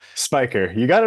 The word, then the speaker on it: Spicher: should have asked you right away how it's pronounced Spiker you got it right the first time most